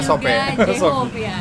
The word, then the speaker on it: Sope: Oh, bacanya Sope. Kalau Shopee itu ini ya, online shop.